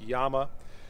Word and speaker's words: Llama: price 1911 like the llama max won by the way i think i'm pronouncing that wrong i think it's properly pronounced yama in any regard even